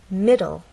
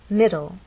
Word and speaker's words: middle: look at words like middle middle this word has two syllables middle and the stress is actually on the first part it ends in an